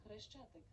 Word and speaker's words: Хрещатик: Хрещатик. Kharesh. It's spelled as Khareshchatik or Khareshchatik is the main street of Kiev, the capital city.